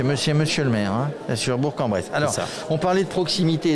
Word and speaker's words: Bourg-en-Bresse: deux jours au maire sur la ville de bourg-en-bresse il faut prononcer comme ça vous êtes chargé de la